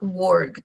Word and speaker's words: worked: Entonces, es muy importante tener en cuenta que la pronunciación no va a ser, digamos, play it, sino que la mayoría de veces no se pronuncia la e. Sí. Acá en este caso, por ejemplo, yo digo played, ¿sí? Y acá worked. Sí, como que suena la k y no la e, pero sí suena la d.